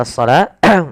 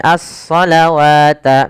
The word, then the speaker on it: الصلاة: Hati-hati dalam pelafalan shalah. Ini lihat. Ada lafal shalah yaitu as-shalah. Di sini tulisannya bukan dengan as-shalah seperti ini dengan alif, tapi dia dengan waw. Sehingga hati-hati teman-teman, jangan sampai membacanya dengan as-salawata misalkan. Wa yuqimunas salawata wa mimma. Jangan terkecoh dengan huruf wawnya. Hati-hati, kadang-kadang memang kita kalau